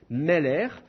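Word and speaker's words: מֶלֶךְ: Et dans ces cas-là, vous allez avoir une forme de ségolé, comme Meller. Meller, vous avez deux ségoles, et c'est le premier qui est accentué.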